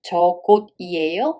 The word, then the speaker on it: 저곳이에요: Be careful with the pronunciation. 저곳이에요 supposed to be 저곳이에요 because the 받침 carries over to a circle position.